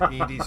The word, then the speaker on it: EDI: And if you're wondering whose Edie's voice is, that is Trisha Helfer, All right. who was Cylon number 6 in Battlestar Galactica. Okay. Why are you named Edie? EDI is the phonetic pronunciation of EDI.